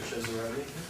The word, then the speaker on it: Cesarani: David Cesarani, or Cesarani, Italian pronunciation.